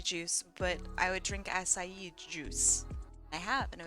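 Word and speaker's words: açaí: look it up actually I think it's pronounced asai uh it's type of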